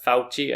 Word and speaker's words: Fauci: His name is Fauci, I think it's pronounced.